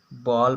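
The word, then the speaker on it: ball: उसके बाद एल आए जैसे लिखा बी ए डबल एल बल पढ़ते हैं एच ए डबल एल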